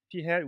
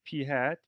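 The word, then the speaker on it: p̂: n is the sample size and p hat p hat we pronounce this p hat p hat is the sample proportion which means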